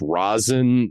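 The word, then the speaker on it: Rasen: But I'm going to assume this is pronounced Razin just kind of the way that the unofficial sequel to Ringu is pronounced just because Nicholas Carlson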